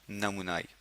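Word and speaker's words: pneumoniae: कोकस नमुनाई, P silent है, MONI, ए के बाद ई, विच मीन्स स्ट्रेप्टोकोकस नमूनाई।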